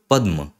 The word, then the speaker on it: पद्म: के नीचे म है तो प अ फिर द फिर म और फिर अ तो पद्म ये इस तरीके से